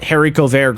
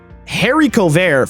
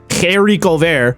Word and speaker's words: haricot vert: Haricot vert, right? You have to on it. Haricot vert. Haricot vert, yeah. You have to say the H like at the back of your throat.